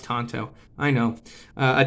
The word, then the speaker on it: tanto: as you know a tanto or a tonto rather people talk about that in my comments all the time it's pronounced tonto i know a tonto blade or a point